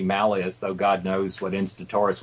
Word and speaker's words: Malleus: Uh although uh the guy in the song pronounced it Malayus in terms of classical Latin, it should be Malas, though God knows what Instaurus would have said.